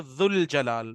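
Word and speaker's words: ذو الجلال: अगर हम इसको अलग अलग करेंगे तो ये क्या, जू अल जलाल, लेकिन जब मिलाएंगे तो जुल जलाल, तो वाव और अलिफ साइलेंट है।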